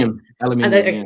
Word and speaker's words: aluminium: And I love like how both of those just have aluminum foil. And how do you say it in the UK? I know I'm saying it differently. Aluminium.